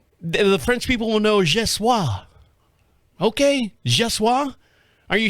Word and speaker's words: Geoffroy: said, so is it pronounced Jeff Roy or Jeffrey? He said, no, neither. I'm thinking, okay, French. God, why didn't I take that class, my second semester, and why didn't I take it? He's pronounced, and he sent me the actual link, and he says it's pronounced Je suis.